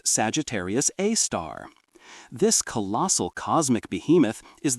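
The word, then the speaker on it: Sagittarius A*: Sagittarius A star, pronounced Sagittarius A star.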